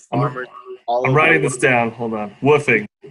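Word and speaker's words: WWOOFing: all writing this down woofing it's called it's spelled w w oo f w w w w oo f ing or what I don't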